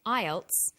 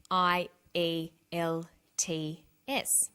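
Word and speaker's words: IELTS: is called an acronym with an acronym we don't pronounce the individual letters we pronounce it as a word so we say aisle not I al t f some other examples of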